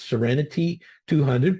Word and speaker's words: SEREN-T200: So it's been rebranded as SEREN-T200, pronounced like the word serenity.